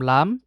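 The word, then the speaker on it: لام: আমরা বাংলাতে যে বলি ল। এটার উচ্চারণ এরকম। তো ল এর সাথে আকার দিলে যেটা হয় লা। তো এই হারফটার নাম লাম।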